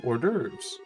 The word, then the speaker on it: hors d'oeuvres: Everything comes out in specific order, starting with hors d'oeuvres. And yes, that is how you pronounce that.